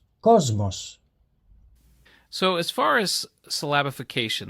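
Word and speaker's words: κόσμος: to note is that a sigma will sound like the letter Z when it precedes one of the voiced consonants so listen to the Greek word that means World Cosmos so as far as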